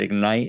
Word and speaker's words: IGNYTE: My company's name is IGNYTE Enterprises, but Ignite is spelled with a Y in between.